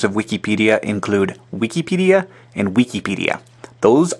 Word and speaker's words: Wikipedia: Wikipedia is a mix of the words wiki and encyclopedia. If the mix occurred at the apedia and the wik, then you would have Wikipedia. But the mix occurs after wiki and then pedia. So you have Wikipedia.